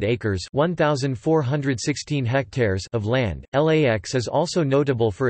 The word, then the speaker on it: LAX: The airport is most often referred to by its IATA airport code and FAA LID LAX, with the letters pronounced individually.